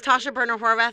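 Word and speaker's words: Tasha Boerner Horvath: hours to say my name my name is Tasha burner Horvath I thank you very much Todd and thank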